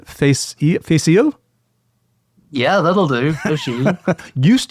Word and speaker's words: Fèis Ìle: I was living in London at the time and I attended that year's annual correct my pronunciation face. Facial.